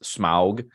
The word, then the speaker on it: Smaug: Serpentine more you know worm like for instance Smaug in the Peter Jackson Hobbit trilogy don't shake